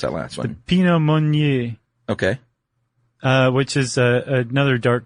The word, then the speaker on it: Pinot Meunier: There are 3 grapes in there, are the Pinot Noir grape, the Chardonnay grape, and how do you pronounce that last one? Pinot Meunier.